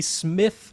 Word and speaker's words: Smyth: blow your mind, there is the Smith Realizer. That's spelled Smyth.